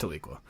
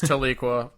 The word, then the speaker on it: Tahlequah: They do have a Walmart in Tahlequah, which I'm going to still say is pronounced Tahlequah. It is Tahlequah.